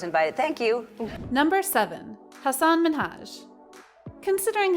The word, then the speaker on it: Hassan Minhaj: pronunciation and then quipping if you can pronounce ansel elgort you can pronounce hassan minhaj after repeating it a couple of times mahaj then asked degeneres to try again her response hassan manish the third time was